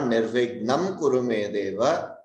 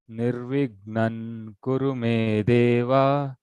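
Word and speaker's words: निर्विघ्नं: It is not Nirvignam Kuru Me Deva. Nirvignam Kuru Me Deva. Nirvignan Kuru Me Deva.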